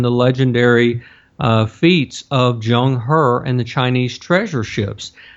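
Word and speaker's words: Zheng He: period you have a great naval officer named Jung her and for those who want to Google this his name is spelled with a z it's z h n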